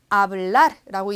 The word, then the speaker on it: hablar: H, 아체가 묵음이니까 hablar라고 얘기를 하고요.